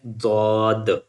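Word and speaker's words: ضاد: When you touch the left side of your tongue lower with the lower teeth on the side you can pronounce it easily as like Dad.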